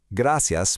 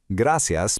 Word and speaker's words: Gracias: Spanish, gracias por el servicio. Gracias por el servicio. Emphasize those soft C sounds again, making them sound just like an S. Let's do it one last time. Gracias por el servicio.